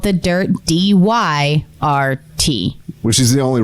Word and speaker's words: Dyrt: We do big rallies with a bunch of campers, and man, it would be cool to have the Dyrt there.